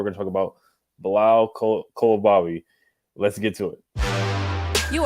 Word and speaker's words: Coulibaly: All right, so I butchered Bilal's last name. It's Mavs Draft. How do you say it? Coulibaly.